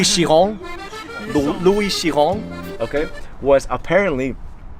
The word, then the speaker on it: Chiron: So Louis Chiron, I didn't pronounce that perfectly. It's Louis Chiron.